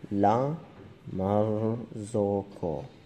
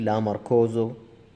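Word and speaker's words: La Marzocco: شوف يا جماعة اسمه لا مرزوكو، ما بحد يقول لي لا ماركوزو.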